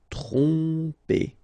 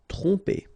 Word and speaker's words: tromper: OM, so, and after that you get a consonant, so technically you will pronounce it like a nasal here. OM will go like on. Tromper. Tromper.